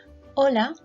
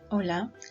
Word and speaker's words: hola: Did you notice that the H in Spanish language is silent, so we don't actually read it?